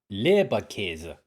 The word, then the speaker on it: Leberkäse: Leberkäse. Alright, now we know how to pronounce it.